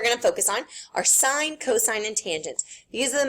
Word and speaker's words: sine: So anyways, the way you pronounce these, this is sine. Everyone say sine out loud to themselves. Sine. Even when you abbreviate it, it's still called sine. Never, ever, ever say sin.